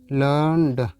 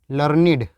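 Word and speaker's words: learned: तब इसका प्रोनाउंसिएशन क्या होता है लर्न का, इसका प्रोनाउंसिएशन होता है लर्निड, तब ये लर्निड हो जाता है।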